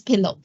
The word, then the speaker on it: PIL: and another one is python Imaging Library pil which sometimes people pronounce it as pillow okay these are two